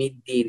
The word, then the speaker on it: الدين: أيضا كلمة يوم الدين هنا الدال هنا مشدد مكسور، فبعضهم ينطق الدال كأنه تاء فيقول مالك يوم الدين، أو يقول مالك يوم الدين، فيجعل الداء كأنه مقاربا لحرف التاء في المخرج، وأيضا يفخم الدال هنا، الدال هنا مشدد مكسور مرقق أيضا، فنقول مالك يوم الدين، مالك يوم الدين.